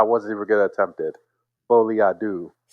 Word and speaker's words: Folie à deux: Folie à deux. I've been saying à la deux all day.